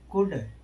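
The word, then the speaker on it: could: नियम जब किसी वर्ड में एल के एल एम ए एल एफ ओ एल के ओ यू एल डी आए तो ज्यादातर शब्दों में एल का उच्चारण नहीं होता है।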